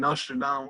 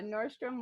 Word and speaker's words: Nordstrom: uh how did the connections between you and nostradam uh come about inertia Dom oh I I